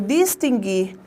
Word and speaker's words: distinguir: Porque nós temos o hábito de pronunciarmos distinguir, não é isso? Distinguir. E, na verdade, aí no vocábulo não aparece um ditongo, aparece um dígrafo.